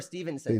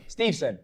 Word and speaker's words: Steveson: Steveson or Stevenson? Steveson, I believe. Oh, I said it right. Steveson or Stevenson? Steveson.